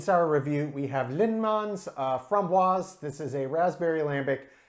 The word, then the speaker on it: framboise: This beer I called a framboise, which is the French pronunciation of the word raspberry. If you use the Dutch pronunciation, it's actually framboise, which is totally different. Most people still will call it framboise, but either are correct.